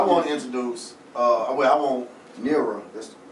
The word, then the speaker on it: Neara: Now I ain't gonna get into that, but anyway, I want to introduce, I want Neara, that's how you say it correctly, right?